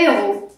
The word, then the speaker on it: héros: héros elles sont la fin mais on ne prononce pas essuyé à léo donc on dit un héros comme superman batman et cetera h n'eût pu